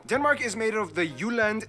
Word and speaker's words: Jutland: Denmark is made of the Jutland, not Jutland, peninsula that connects to Germany in the south, as well as 1,419 islands.